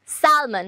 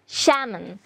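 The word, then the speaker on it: salmon: একটা ফিশের নাম সো আমি কিন্তু ফার্স্ট টাইম মিস প্রোনাউন্স করেছি আমি বলেছি স্যালমন বাট the pronunciation will be স্যামন because এখানে এলটাও কিন্তু সাইলেন্ট হয়ে যাচ্ছে কি হয়ে যাচ্ছে সাইলেন্ট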